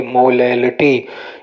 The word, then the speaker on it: molality: मोलैलिटी देखिए, मोलैलिटी यहाँ पे स्पेलिंग देखिए MOLALITY मोलैलिटी, इसी में अगर यहाँ L की जगह R आ जाए तो मोलैरिटी, तो ध्यान रखना है दोनों में।